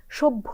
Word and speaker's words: সভ্য: যদি আমরা বলি হ্যাঁ সভ্য যখন বলছি তখন আমার উচ্চারণ শুনেই নিশ্চয়ই আপনি বুঝে নিয়েছেন যে আমরা কিন্তু প্রথমে বলিছি অর্থাৎ ভ এর যে অল্পপ্রাণ উচ্চারণটা সেটা প্রথমে করেছি তারপরে ভ যেটা নিজস্ব উচ্চারণ মহাপ্রাণ ধ্বনি সেটা বলছি এবং যথারীতি শেষ বর্ণটায় যে ওকারান্ত উচ্চারিত হবে সেটা হচ্ছে ঠিক আছে তাহলে